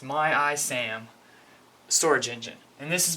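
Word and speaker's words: MyISAM: need to use and this is pronounced my IAM storage engine and this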